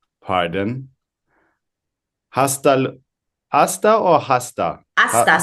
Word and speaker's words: hasta: Aasta. So, the H is not pronounced.